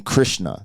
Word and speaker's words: Krishna: high res Joel Ortiz and then Krishna that's how you say it and shout out to